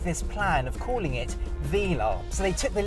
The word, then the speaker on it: Velar: here is a 1969 Vela and I say Vela because that is the correct way to pronounce the name now the new car is called a Vela for reasons nobody really can tell me but